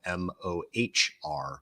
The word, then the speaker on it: Mohr: And my last name is spelled M-O-H-R, Mohr, not related to the comic actor Jay